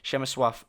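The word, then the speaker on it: Przemysław: right now saying or suggesting how to pronounce the name which is chemin suave porchetta so for the rest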